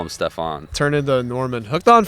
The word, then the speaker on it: Stefan: Like there's a NASCAR driver, Stefan Parsons, and it's just like it's just weird that it's pronounced Stefan, but it's spelled F-A-N.